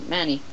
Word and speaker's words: ManyCam: it's named Manny uh it mostly it's pronounced uh many but for this one it's pronounced Manny now we all know